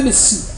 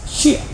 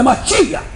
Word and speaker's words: Mashiach: Não é Messias, Mashiach. Eles pronunciam errado. É Mashiach.